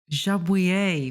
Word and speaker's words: Jabouille: I think it's pronounced Jabouille. Jabouille.